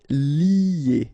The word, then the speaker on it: lier: Okay, so it's interesting here because first you've got this li, and after that you get this a sound, you know, that normally we get when you get this er at the end of a word, or in most of the cases as of the verb, sorry. So you get lier, lier.